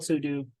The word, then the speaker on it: sudo: super user do or pseudo some people call it Pudo I like to call it pseudo I think Sudo is technically the right way to pronounce it uh but allows us